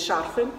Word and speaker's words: шарфы: Я за время ведения канала научилась говорить шарфы. Совершенно точно правильно ставлю так ударение. Кремы, наверное, все-таки будет правильно, кремы.